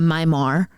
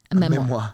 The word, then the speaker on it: memoir: I'm a Myar. How do I pronounce it? Memoir.